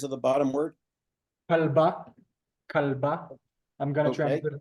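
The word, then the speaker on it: כלבה: Yeah, could you repeat that, just the pronunciation of the letters of the bottom word? Kalba, kalba.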